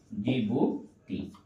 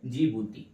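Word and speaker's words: Djibouti: क्या हो जाएगा जिबती जीबुटी इसको इंग्लिश में कहते है डी जी आई बी यू टी आई ठीक है डी से स्टार्ट होता है लेकिन डी क्या रहता है साइलेंट रहता है इसको क्या याद रखेंगे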